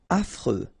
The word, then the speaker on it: affreux: Affreux. Final X not pronounced.